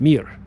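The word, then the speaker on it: мир: Mir just like the space station. Remember the Soviet space station called mir.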